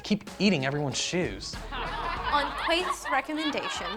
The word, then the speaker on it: Keith: On Quaith's recommendation, It's Keith, pronounced Quaith.